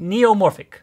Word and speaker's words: neumorphic: Neomorphic. Say new? New. Now say morphic.